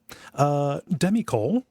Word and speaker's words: Demicole: It is Demi COL. So I don't know how to say it better than the way that I said it.